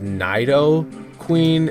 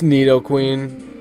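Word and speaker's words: Nidoqueen: a neid king today people call it naido queen and naido king it's Neo Queen in need King just so you know in case nobody told you yet just saying it right wrong so let's see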